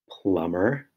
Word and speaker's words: plumber: knen the M sound in plumber is also spelled MB and the r sound